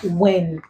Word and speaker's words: when: So the odd word becomes when. In these three words, the W is silent, but here it is pronounced, and the H is silent.